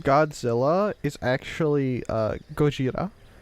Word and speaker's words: Gojira: The name Godzilla is actually Gojira, which is the Japanese character Go, Ji, and Ra, which comes from a combination of Gorira, which is gorilla.